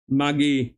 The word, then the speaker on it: Mudgee: Mudgee. Yeah, I thought it is Mudgee. I thought it is Mudgee. D is silent.